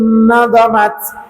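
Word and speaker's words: نظمات: Wa hadza silkun nadhamat, maka nadhamat ini boleh dibaca dha-nya tasydid atau tidak tasydid ya, tetapi yang lebih fasih adalah tanpa tasydid.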